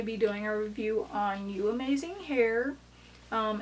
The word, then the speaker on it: UAMAZING: into it okay so I think it's pronounced like you amazing hair but I say you amazing here so it originally came